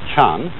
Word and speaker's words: Chan: And that is the Japanese way of pronouncing the Chinese word, Chan. And this, in turn, is the Chinese way of pronouncing an Indian Sanskrit word, Jnana.